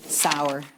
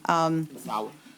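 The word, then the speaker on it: Sower: Sauer, S-O-W-E-R, yes. Sauer.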